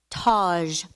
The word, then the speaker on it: Taj: Taj.